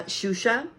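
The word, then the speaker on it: Xuxa: so you need to look up SHO but it's spelled X uxa cuz she's Portuguese shusa is a nickname that's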